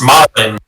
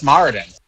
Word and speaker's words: Moradin: I'm pretty sure it's pronounced Martin. Yeah, it's Moradin. Yeah, you mispronounced that.